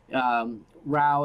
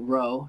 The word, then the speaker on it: Rao: Brown by the way Rao is in Cal as opposed to row so we it's pronounced